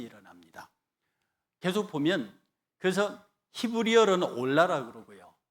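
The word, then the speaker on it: עֹלָה: 이 번제가 히브리 발음으로 올라거든요. 이게 굉장히 외우기 쉽습니다. 올라가는 제사예요.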